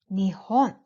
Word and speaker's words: Nihon: is an interesting fact Japan in Japanese are pronounced in two ways one is Nippon and the other is Nihon so there are two pronunciations for Japan in Japanese are interchangeable so